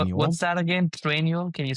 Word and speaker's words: Trainual: Trainual. Can you spell that? Train. T R A I N U A L. Like training manual.